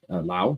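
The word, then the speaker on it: Laos: go up through uh Lao La Lao you don't really pronounce yes then you then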